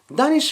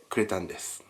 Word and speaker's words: Danish: be dahn-ish in Japanese I shouted, "oh that's dahn-ish! I love it" And my friend said "Wtf is dahn-ish!? It's deahn-ish!"